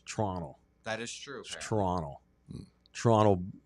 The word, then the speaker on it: Toronto: You don't you don't pronounce the second T. It's Toronto.